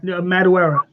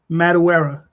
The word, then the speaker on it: Madureira: Oh yeah, Madureira. Well, how do you say it? Madureira.